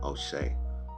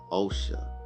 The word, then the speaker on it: Osha: Now I said her name wrong. It's O'Shea. Osha, I'm sorry. I was saying O'Shea. Osha.